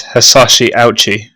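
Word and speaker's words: Hisashi Ouchi: your skin melted okay i've gone to a pronunciation site and it is is is hasashi ouchi no i can't that's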